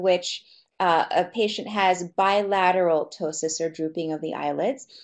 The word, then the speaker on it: ptosis: is something called ptosis and it's actually spelled pto sis but it's but it's pronounced ptosis and what it basically means is